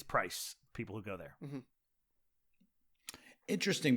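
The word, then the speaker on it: Prys: r y s and it looks to me like prize but it it's price people who go there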